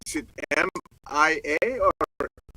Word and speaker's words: Miia: name spelled is it m i a or m i i a so it's m i i let's pronounce Mia yes two eyes yeah just me a Bella but SP with two eyes I thought i' that's